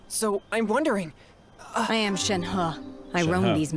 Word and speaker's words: Shenhe: Shenhe, right? That's how you pronounce that. The H-E, Chinese, huh?